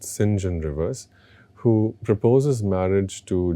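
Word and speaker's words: St John: singen Rivers spelled as sa John Rivers but pronounced singen Rivers who proposes marriage to Jane repeatedly at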